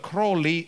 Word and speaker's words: Crowley: something similar and so introduce himself say hello i'm aleister crowley i double in everything unholy and so you remember the exactly the right pronunciation but crowley anyway try to create